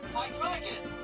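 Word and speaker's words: Hydreigon: Hydrogen, right? That's how you say it. Hydragon.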